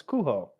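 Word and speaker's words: Cujo: It's not supposed to be pronounced Kujo. It's Kuho.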